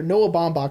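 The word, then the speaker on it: Noah Baumbach: bidding stills don't care noah bomb that's how you pronounce his name by the way oh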